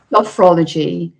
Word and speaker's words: sophrology: So do you want to tell us a bit more about your, is it, how do you pronounce it, sorry? Sophrology.